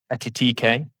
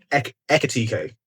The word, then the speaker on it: Ekitike: I've gone for Etitike for Liverpool. How do I say his name? Hugo Ekitike. Ekitike. The K comes first.